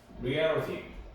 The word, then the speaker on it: reality: 자, 판타지는 이제 공상, 환상, 이렇게 보면 되고, reality, 또 이제 리얼리티라고 이제 말하기도 하는데, 그건 어떻게 보면 조금 이제 콩글리시하고 관련된 그런 이제 발음이고요. reality라고 이제 발음합니다. reality. reality. 리얼리티는 이제 쉽게 말하면 리얼리티 해갖고 이제 콩글리시로 읽는 거고요. 리얼리티라고 이제 해야지 영어가 되겠죠. 자, 얘는 이제 현실이죠, 현실, 그렇죠?